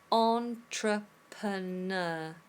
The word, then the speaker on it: entrepreneur: So I just want to make sure that we can pronounce this properly in a British English accent. It is entrepreneur. Entrepreneur. Entrepreneur.